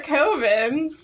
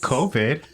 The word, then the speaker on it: coven: Or you could find another coven if you hate us. COVID? Coven. Coven. I was like, This is COVID. so embarrassing. Not COVID. Not coven? I've been Are- saying it wrong my whole life.